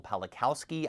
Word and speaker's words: Pawlikowski: This film was written and directed by Pawlikowski, I believe is how you say his name.